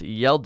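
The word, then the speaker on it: Hjalte: everyone in Denmark Oh its first name is pronounced yelled uh what y'all teh it's kind of that's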